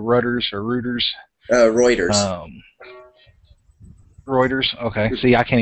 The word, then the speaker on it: Reuters: Reuters. Reuters. Okay. See, I can't even pronounce it right.